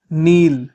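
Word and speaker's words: kneel: press press घुटने टेकना नील नील नील में के साइलेंट होता है बेचना सेल सेल आग्रह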